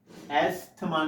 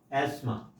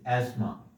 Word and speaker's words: asthma: Asthma, not asthma. This is asthma. TH is silent here.